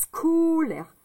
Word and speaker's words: scolaire: On entend le C. Donc, S, ça fait le son S. Et le C, ça fait le son que. Donc, S et que, ça fait SK. SK. Là, j'ai dit SCO.